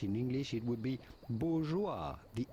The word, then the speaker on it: bourgeois: In English it would be bourgeoa. The s at the end of bourgeoa is definitely silent as is often the case in French. Bourja.